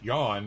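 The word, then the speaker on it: Jon: they originated in Scandinavia where John pronounced Yan is a common name fisherman uses them to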